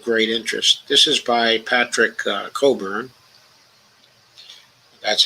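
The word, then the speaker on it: Patrick Cockburn: This is by Patrick Coburn. That's how you pronounce his name.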